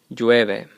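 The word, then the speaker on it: llueve: which means to rain keep in mind that Double L makes a y sound so that would be pronounced jueve and that means it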